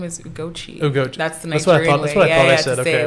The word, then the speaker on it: Ugochi: it's that, but like it's either Ugochi or Ugochi, but like the Nigerian way is Ugochi, and as I'm getting older, I like just pronounce like the original.